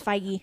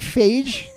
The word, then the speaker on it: Feige: I think Fiji? I think it's Feige. Feige. I always want to say like Phage, because that's cool.